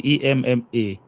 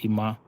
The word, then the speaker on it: Emma: If it's a male, you say Ima.